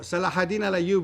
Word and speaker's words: Salah: cannot be Greek right so Salah that's the Arabic pronunciation of his name Saladin in English during the Crusades when